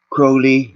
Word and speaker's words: Crowley: who talked about Chloe Crowley rhymes with homie Meester actually cause monsters